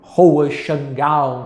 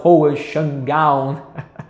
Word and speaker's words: Hohenschwangau: que pode te mandou eu repetir três vezes castelo hohenschwangau castelo hohenschwangau eu acho que é mais fácil colocar o nome na tela de como se escreve que não é parecido com Como se pronuncia a rua xangal foi